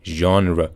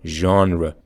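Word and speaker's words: genre: معمولاً درست تلفظ میشه فقط حرف آخر اگه نگاه کنین شوا هست یعنی یه دونه شبیه به ا ما باید آخر کلمه اضافه کنیم ژانر ژانر شماره ۸ پیزا نیست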